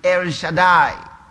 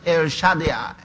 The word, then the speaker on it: El Shaddai: Many of us pronounce it El Shaddai. Pronunciation signs say El Shaddai. That's more difficult to pronounce, right?